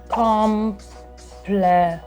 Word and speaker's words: compliment: Compliment. Bardzo podobne, a w wymowie to już w ogóle identyczne.